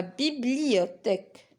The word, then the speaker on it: bibliothèque: Alors on a TH, c'est un T. Les maths. Le thermomètre. La bibliothèque.